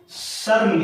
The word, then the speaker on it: शर्म: तो यहां पर म के ऊपर रेफ की मात्रा लगी और म से पहले इस रेफ की मात्रा का उच्चारण हो जाता है अर्ध व्यंजन र के रूप में।